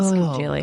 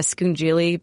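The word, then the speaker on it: scungilli: But you have to pronounce it like a Staten Islander. Oh, right. You have to drop. Yeah. It's amazing. Or like the Sopranos. You have to drop all the final vowels from everything.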